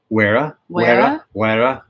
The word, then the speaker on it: Wera: Wera. Like there's a little you kind of roll your R, but you drag one of German and yeah.